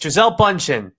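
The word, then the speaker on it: Gisele Bündchen: days but it's it's giselle bunchen it's not that hard bro well how am i supposed to say it right if i don't know the correct pronunciation it's just bunching bunching it's uh i think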